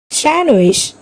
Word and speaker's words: sandwich: Sandwich. Here also D is silent.